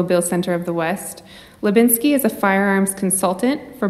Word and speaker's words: Hlebinsky: like to extend a warm welcome to Ashley Levinsky thank you so much I always get excited when someone pronounces my name correctly very complicated just so